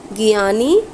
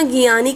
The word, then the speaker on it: Gianni: ठीक है, spelling note कर सकते हैं, GIANNI गियानी। ठीक है, इन्फेंटिनो INFANTINO फ्रॉम स्विट्जरलैंड। तो इनको याद रखना, गियानी करके, गियानी है प्रेजेंट टाइम में।